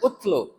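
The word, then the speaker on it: اتْلُ: utlu fiil Amar J Kalau tidak ada wwya dibacanya utlu ya atau misalnyab ya unsur Nah itu tergantung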